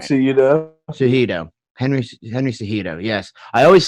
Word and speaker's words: Cejudo: One guy who I am always a huge fan is Henry Cueto. I always say it wrong. I can never say his name. Oh, right. Cejudo.